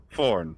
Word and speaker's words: Forn: uh your ninjab Bob forn is the name forn forn rhymes with one of my favorite words love me some corn all right good night